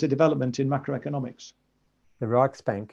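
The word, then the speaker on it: Riksbank: a Swedish Rich bank is it rick Bank I'm not quite sure how you pronounce it anyway prize committee to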